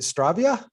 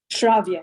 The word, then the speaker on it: Shravya: Is it Stravia? Shravya, yes. Shravya.